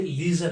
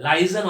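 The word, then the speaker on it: liaison: तो ये लीजन officer है, लाइजन ऑफिसर नहीं है, ये लीजन ऑफिसर है।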